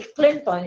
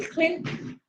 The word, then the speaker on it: Clinton: You know, the last syllable was very much obscured. And so to be understood, you don't have to say Clinton. It has to be Clinton, you know.